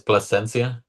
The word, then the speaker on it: Placencia: Can you give me the correct pronunciation of your last name, please? Yeah. Uh, it's Placencia.